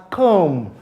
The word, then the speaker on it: comb: You don't pronounce it as comb, but it is pronounced as comb.